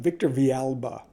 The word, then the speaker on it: Victor Villalba: I feel really bad. I've been mispronouncing that name for quite some time. Victor Villalba.